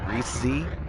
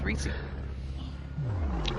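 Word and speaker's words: Reisz: and then Z, yeah, if you read it the way it's spelled, Reese Z, it's Reese.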